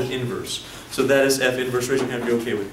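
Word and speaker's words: f⁻¹: it just it's pronounced f inverse so let's all say this with me for a function f the inverse is denoted what is that f inverse don't say f negative one okay don't say that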